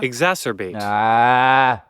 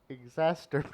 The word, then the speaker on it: exacerbate: Exacerbate. Exacerbate. Exacerbate. Exacerbate. Exorbitant. Nope. It would make sense that you make it sound like masturbate because it's basically spelled the same.